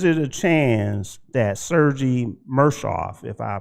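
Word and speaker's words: Murashov: Now, is it a chance that Sergei Mershov, if I pronounced that correctly? Sergei. Sergei? Yep. Marashov.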